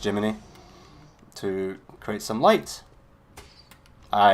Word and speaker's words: Gemini: can use Jiminy it's it's spelled Gemini but it's still pronounced Jiminy to create some light